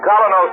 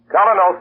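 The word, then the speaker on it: Kolynos: Ladies and gentlemen, Colinos Toothpaste presents Mr.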